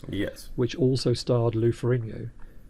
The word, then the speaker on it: Ferrigno: Which also starred Lou Ferrigno. Ferrigno. I keep trying to say it like the Italians would, but I think he pronounced it Ferrigno, didn't he?